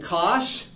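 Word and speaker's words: cosh: the two definitions for I will pronounce them cinch and Kos cinch and Kos uh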